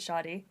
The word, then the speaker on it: Shadi: I pronounce it Shadi.